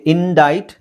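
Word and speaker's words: indict: C silent ಆಗಿರುತ್ತೆ okay ಇಂಡೈಟ್ ಇಲ್ಲೂ C silent ಇಂಡೈಟ್ ಇಲ್ಲಿ ಫಸಾಡ್ ಫಸಾಡ್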